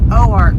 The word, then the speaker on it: Oark: work general store cafe we got schooled on the correct way to pronounce it it is o arc arkansas and that was totally